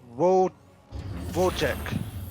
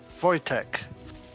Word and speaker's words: Wojtek: And in the southwest, it is the Green Terran, Wojek. I'm pronouncing it wrong, aren't I? Yeah. It's Wojtek. It is Wojtek.